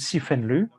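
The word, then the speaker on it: 四分律: Donc les écritures du Vinaya en chinois, on prononce Sifenlu.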